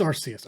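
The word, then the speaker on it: Arceus: was really excited conceptually for the idea of archus or arus or I still don't know how to pronounce that Pokemon RCS yeah it is RCS okay yeah um I I was really keen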